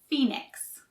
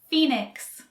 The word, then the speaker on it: Phoenix: english so we say phoenix notice we don't really pronounce the o in phoenix phoenix phoenix phoenix is a